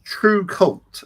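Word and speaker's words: TRVCVLT: Yes, this is true cult is how I would pronounce it, but it's spelled T R V C V L T and that's Roman style.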